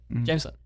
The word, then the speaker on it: Jameson: but uh it's pretty this is like gym and then the sun if you just dissect it like that you know jameson um but yeah it's